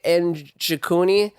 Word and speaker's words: Njokuani: First fight I'm going to talk about Chidi Njokuani. I can't pronounce his last name. I know the N. It's you say it by itself, so it's Njokuani. I believe is how you say it.